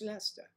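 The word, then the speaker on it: Leicester: called three crowns or I would do that pronounced Lester I love to meet you and Angela yes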